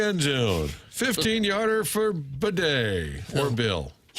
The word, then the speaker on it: Batty: Tyler Batty who changed his name now to bedet bed you sure Tyler Bed said it's always been how it's pronounced but we just got correct today he